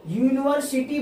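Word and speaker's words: university: अब इसका जब उच्चारण करेंगे तो इसका उच्चारण होगा यू।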